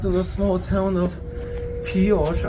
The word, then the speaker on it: Pioche: We've stopped in the small town of Pioche. I think it's how you pronounce it because it was named after a French American, Francois Louis Alfred Pioche, and this traditional Old